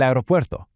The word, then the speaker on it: aeropuerto: ¿Dónde está el aeropuerto? Listen for that soft roll right in the middle of that last word.